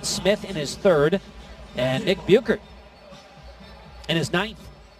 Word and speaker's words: Buchert: his third and ick Buchert and his ninth actually pronounced Booker Nick Booker in his ninth Terrence